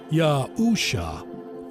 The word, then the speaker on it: Yahusha: in modern Hebrew is spelled y Yashin Ain which is yahusha pronounced yahusha very simple very powerful in fact